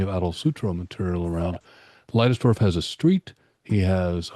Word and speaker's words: Leidesdorff: It's Leidesdorff, which is funny because people do it both ways, but it was a Germanic name. So just like Weissman or other names of that sort, we pronounce it with that vowel.